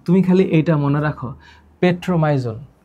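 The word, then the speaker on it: Petromyzon: আচ্ছা, এরা ফুলকা ছিদ্রের মাধ্যমে শ্বাস নেয়, এটাও তোমার মনে রাখতে হবে না, তুমি খালি এইটা মনে রাখো, পেট্রোমাইজন। উচ্চারণটা মনে রাখবা।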